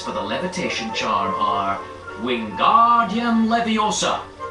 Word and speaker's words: Wingardium Leviosa: The magic words for the levitation charm are Wingardium Leviosa. Be sure to make the gar nice and long.